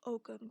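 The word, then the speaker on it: Ogham: the celtic tree calendar is also called the ogum calendar that's spelled o-g-h-a-m there are 13 months which follow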